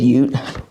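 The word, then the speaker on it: Hjorth: I pronounce it short forever. I had some Swedish guests come through two different times and I how do you spell this? And they said Ute.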